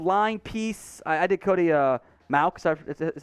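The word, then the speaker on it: Mauch: I did Cody Maux, is how it's pronounced, last time.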